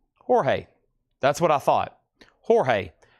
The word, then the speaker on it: Jorge: Jorge. Jorge. That's what I thought. Jorge. J O R J E in Spanish is always Jorge.